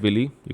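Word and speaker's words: villi: आप प्रोनाउंसिएशन अलग अलग हो सकता है। यू can call it विली, यू can call it विलाय, it depends upon you.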